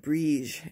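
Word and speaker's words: Brigid: i mean february 1st bridgette pronounced brige is the celtic goddess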